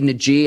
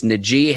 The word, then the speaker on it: Najee: harris can do and ike i say naji i've been mispronouncing his name all along our viewers and listeners and commenters let me know it is najee harris the running back out